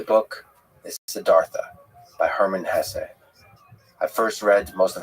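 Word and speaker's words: Hesse: And by the way, please allow me this pronunciation of his last name. I've heard some people say Hess, but my whole life I've always said Hess.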